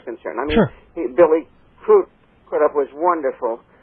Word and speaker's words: Crudup: Billy Crudup was wonderful, or I believe he calls Crudup. Crudup, yeah. Crudup, yes, because he thanked the presenter for pronouncing his name properly.